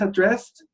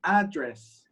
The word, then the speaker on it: address: So those are two words. We write them the same. The writing is the same. The meaning is different, and we pronounce them differently.